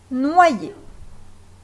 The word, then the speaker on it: noyer: On peut les remplacer par OI, IE, ce qui se prononce OIE, comme dans noyer.